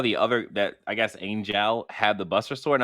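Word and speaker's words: Angeal: I'm sorry, it's pronounced Angel because his name is spelled weird.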